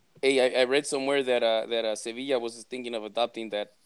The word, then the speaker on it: Sevilla: Sevilla doesn't have enough syllables. You have to say Sevilla. I mean, like you're missing one.